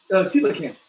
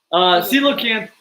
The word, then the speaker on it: coelacanth: Oh, coelacanth.